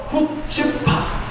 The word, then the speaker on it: 후츠파: 않아요 오른쪽에서 왼쪽으로 읽는데 이걸 뭐라고 읽냐 후츠파 파츠 아니고 후츠파고 읽는다이 히브리어 말이 후츠파 하는